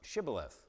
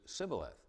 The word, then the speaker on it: shibboleth: the Jordan by their inability to pronounce shibboleth. They couldn't get out the sh. It was Sibboleth.